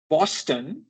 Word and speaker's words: Boston: ঠিক একই ভাবে Boston is Boston, not Boston. কারণ Boston is an English word and it's pronounced as Boston.